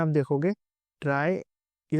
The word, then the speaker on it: trie: First of ऑल कुछ लोग उसे बहुत गलत प्रोनाउंस करते हैं। सब लोग उसे ट्री प्रोनाउंस करते हैं। बट ट्री इससे पहले जो हमने टॉपिक्स में पढ़ा था बाइनरी ट्री या बाइनरी सर्च ट्री वो सब हमारे ट्रीज़ ये हमारा ट्राई है।